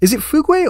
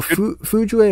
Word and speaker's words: Fugue: Is it Fugue or Fujue or Fudge or what? Like, I think it's Fugue. Fugue. It's just pronounced Fugue.